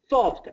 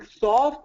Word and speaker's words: soft: Because sometimes I'm hearing soft and sometimes soft. Yeah. Here too, Sergey, AW is the standard pronunciation. You'll definitely hear soft. Soft is very New York, very Boston for the soft. I do recommend AW for soft too.